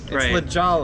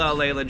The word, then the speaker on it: Lajolla: but there's two L's Lala it's pronounced just like it's spelled l a j o l l a Lala I don't know why